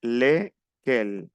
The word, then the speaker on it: lesquels: Bien, on prononce pas le S. Lesquels.